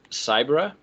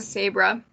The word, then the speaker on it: Sabra: Let's move to, I probably will pronounce this wrong, so I apologize, but Cybra. Yeah, I was close. It's a Sabra.